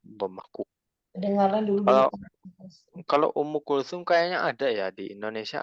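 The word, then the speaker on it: Umm Kulthum: Ummu Kulsum. Ya, dhammah Bu. Ummu Kulthum dhammahku. Kedengaran dulu. Kalau Ummu Kulthum kayaknya ada ya di Indonesia, ada orang namanya Ummu Kulthum ya.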